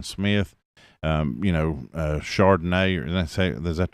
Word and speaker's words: Charbonnet: Uh but, you know, still having uh Jackson Smith um you know, uh Charbonnet. Is that how you say Does that Is that the way you say his name? Char- Charbonnet.